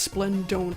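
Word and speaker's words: Splendont: I'm not even sure how to pronounce his name. It's Splendon.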